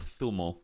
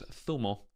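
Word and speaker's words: zumo: The letter Z in Spain is pronounced like a TH because we all have lisps for some reason here. So it's Thumo. Thumo de papaya.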